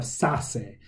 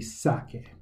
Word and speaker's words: saque: So if we don't change that to QUE, we have sase, and that's obviously wrong, so it needs to be sake.